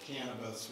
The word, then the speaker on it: cannabis: its psychoactive and then the more recognizable cannabis with the proper accident on the first syllable the cannabinoids are primarily